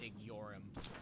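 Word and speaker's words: Igeyorhm: at the fact that the A's name is pronounced IG yorum I'm just still reeling from it truly we're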